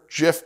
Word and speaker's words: GIF: Second, at me if you want, the person who created it named it after Jif peanut butter, so I believe that's how it's pronounced, according to the horse's mouth.